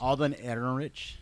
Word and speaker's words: Alden Ehrenreich: I can never pronounce his name right. I don't even know what his name is. Alden Ehrenreich.